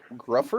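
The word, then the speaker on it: Gruffudd: I guess this guy's name is Ian Grufford. I'm not sure It's who this Ian. is. It Ian pronounced Gufford.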